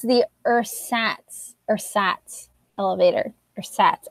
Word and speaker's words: Ersatz: Ersatz. At least that's what the audiobook said. Ersatz. So it's kind of like pronounced like it's spelled.